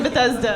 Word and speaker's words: Bethesda: It's Bethesda. Bethesda. That's how it's pronounced. Definitely Bethesda.